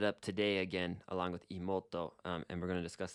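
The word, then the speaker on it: 妹: And there's an u there after the mo. So it's Imouto.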